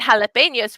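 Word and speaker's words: jalapeño: can you say odell the j in spanish is called hota it makes the sound like in english h so that's why we say jose and jalapenos we don't say josie and jalapenos everybody say jalapenos jalapenos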